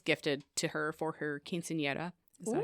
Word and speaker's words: quinceañera: So after a trip to the United States, and that was gifted to her for her quinceañera.